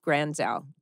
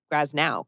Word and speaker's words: Granzow: I remember in the scene, I had to say Jeff Granzow. And I couldn't say his name. I couldn't get it out. I think I kept saying Jeff Graznow. Graznow.